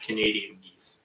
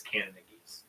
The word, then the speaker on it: Canada geese: how you say it it's not Canadian geese it's Canon geese yeah it's actually because